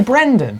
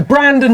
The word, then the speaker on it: Brandon: Did I say Brendan? Yeah. Yeah. Should we start again? Well, have I been saying that a lot? Yeah. Have I? Why didn't someone tell me? What, I've been saying it wrong all along?